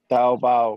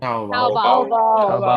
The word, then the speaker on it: Taobao: How do you pronounce this name? Taobao. Taobao. Sounds like Taobao.